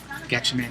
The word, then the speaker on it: Gatchaman: Am I pronouncing that right? Gatchaman, yeah.